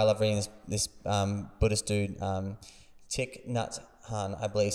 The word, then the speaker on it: Thich Nhat Hanh: And man, that's, I mean, there's a great, I mean, there's this guy I love reading, this Buddhist dude, Thich Nhat Hanh, I believe is how you pronounce his name, sadly passed, and beautiful writer.